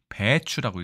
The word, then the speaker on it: 白菜: 있는 글자일까요 네 죄송합니다 자 백채라고 되어 있네요 그런데 이것을 우리가 배추라고 읽습니다 배가 장음네요 배추 백체가 배추 물론 의문의 유사성은 있지만 어떡하다가